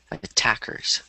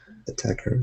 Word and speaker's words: attackers: word attackers justable yeah attackers uh and I said AR yeah yeah yeah uhuh yeah so you just want to stress the the second syllable attackers attack Cur yeah there you go